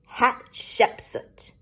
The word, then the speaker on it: Hatshepsut: her temple he says her name is pronounced hatshepsut what exactly is a